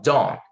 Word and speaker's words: don't: Don't, esse T, geralmente ele não é pronunciado, a não ser que você queira dar uma ênfase. Então, ó, don't.